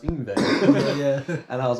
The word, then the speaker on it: Yngwie: And I was like, Yingwie. Yeah, and then I remember my teacher, he corrected me. He's like, I think it's pronounced Yngwie.